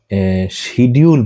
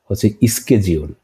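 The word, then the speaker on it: schedule: আমরা যেটাকে শিডিউল বলি ওটা হচ্ছে স্কেজিউল।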